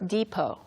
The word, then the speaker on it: depot: because it was a furniture Depot. Depot. D-E-P-O-T까지 쓰는데 T가 발음이 안 돼요.